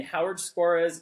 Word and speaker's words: Howard Skora: you are again in Howard Skora's, is that how I say his name? Yeah.